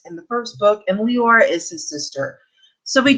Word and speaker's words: Leora: So for Viscount's Proposal, we are following Leora as Lindsay from Books for Christian Girls actually asked Melanie Dickerson how to pronounce that, and it is Leora.